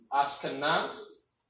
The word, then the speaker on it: Ashkenaz: So pronunciation for the ancient name is Ashkenaz.